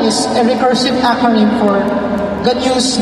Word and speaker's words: GNU: Pero yung GNU na i-define natin is a recursive acronym for GNU's not Unix. So, ang pronunciation niya ay GNU.